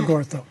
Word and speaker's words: Ngotho: You don't pronounce the N. So it's Ngotho.